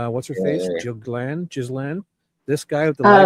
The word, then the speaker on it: Ghislaine: It's pronounced Ghislaine.